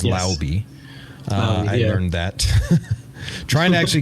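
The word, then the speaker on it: Laube: with Dylan lby which apparently that's the proper way of pronouncing his name is lby I learned that trying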